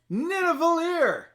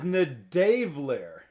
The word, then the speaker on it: Nidavellir: Nidavellir.